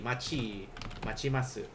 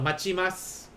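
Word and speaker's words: 待ちます: Like if you put this T here, it's still going to be pronounced as chi instead. So machimasu.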